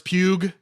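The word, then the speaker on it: Pugh: to pronounce it hear I think it's just Pew I don't think there's an extra G no no here's the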